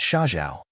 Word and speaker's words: Sha Zhao: How could Sha Zhao? "My name is Sha Zhao, which has the same pronunciation as desert.